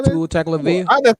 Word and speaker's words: Tagovailoa: Tagliavoa or whatever the hell you spell it. Tua Tagovailoa.